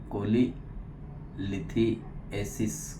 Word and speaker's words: cholelithiasis: studies में पिश मरी जिसको हम लोग कोलेस कोली लिथ एसिस कहते हैं स्पेलिंग प्रोनाउंस कर देता हूं सी एच ओ